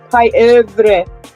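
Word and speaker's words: pieuvre: So yeah, like look how it's spelled. It's spelled pie with a U and a V and an R and an E. Pie evre. But like in French, it's like it's like really hard.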